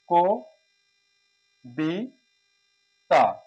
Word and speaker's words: কবিতা: তাহলে এখানে হচ্ছে বয় রস্বীকার দীর্ঘকার যাই থাকুক এই কল থাকার কারণে হচ্ছে এটা ওকার হয়ে যাবে ক বি তা কবিতা ক বি তা কবিতা কবিতা হবে এবার আসি দক্ষ দক্ষ